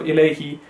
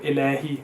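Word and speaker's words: إليه: So we have I and ao, and you have to make sure that you go from a to e and a to u, rather than just mixing it into one sound.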